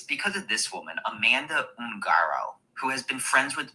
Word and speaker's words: Ungaro: Now, I could have sworn it was Ungaro, but it's Angaro, Ungard. I guess you can pronounce it both ways.